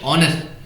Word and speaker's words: honest: But this is not true because however the spelling is honest, we pronounce it honest. The pronunciation starts with the second letter O.